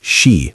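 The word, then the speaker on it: 四: The Japanese strongly avoid the number 4 because it can be pronounced shi, which sounds identical to the word for death.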